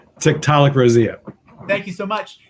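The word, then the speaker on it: Tiktaalik roseae: Schuman will you help me out with this of 375 million year old fossil called Tiktaalik Rosia thank you so much it's considered an important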